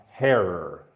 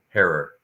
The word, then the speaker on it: Herer: yeah um uh Jack would always say it's pronounced heror herror yep just so just so no good thank